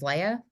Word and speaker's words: Leia: I've been calling you Leah. It's Leia.